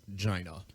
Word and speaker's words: Gina: Oh, it's spelled Gina, but it's pronounced Gina.